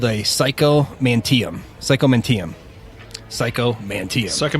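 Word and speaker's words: psychomanteum: all right how do you say it again psycho mantium psycho mantium psycho mantium all right the psycho mantium whatever what is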